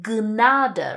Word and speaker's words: Gnade: You just say everything, so you have to say 'die Gnade' (dee gunada), right? You say the 'g' and the 'n' sound.